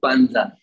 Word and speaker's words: Pandza: It's like panda, but with a Z in between V and A.